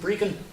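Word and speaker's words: Brechin: We who live in southern Ontario here would think of Brecon, a little village north of here. But the Scots pronounce it Brecon, about an hour and a half north of Dundee.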